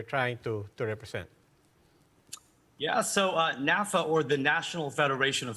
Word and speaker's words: NaFFAA: First of all, am I pronouncing that right? NaFFAA? How do you call it? The first one, it's NaFFA. NaFFA.